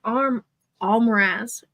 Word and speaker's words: Almiraj: Apparently, The creature is an Almirage. Yeah. An Almiraj. Almiraj. A-L-M-I-R-A-J, I believe. I Can you see.